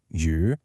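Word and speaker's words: yǔ: That mark tells you it's the third tone. So, step 3, you pronounce the sound. You know the sound is U, and you know the tone is a falling and then rising pitch.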